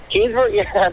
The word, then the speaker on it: Keansburg: Am I saying it right, Keansburg? Keansburg, that's 100% correct.